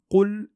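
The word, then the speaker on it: قُلْ: Sachez que le qaf se prononce de cette façon qo, qo. Donc qul a'udhu.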